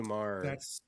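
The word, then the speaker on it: Meagher: Um, I don't know the book, but her her last name is spelled M E A G H. Uh, I believe it's A R. It sounds like Meager, but it's Mah.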